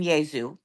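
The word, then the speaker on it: Iesus: In Latin, you the early Latin would have been Yazu.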